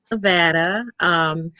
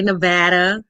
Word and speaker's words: Nevada: So born in Nevada. Us locals say Nevada. We can tell when somebody is not a local because they say Nevada, which is wrong.